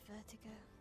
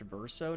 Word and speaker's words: Verso: And papa knows I have vertigo. I think his name is pronounced Verso, not Vertigo, but you know.